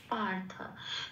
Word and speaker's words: পার্থ: র হয়ে গেল, কাজেই ওটার উচ্চারণ হবে আগের অক্ষরের সাথে জুড়ে, পয়াকারের সাথে জুড়ে।